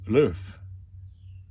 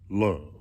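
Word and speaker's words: l'oeuf: introduced in the U.S the Americans naturally mispronounced it and called it love that's where it came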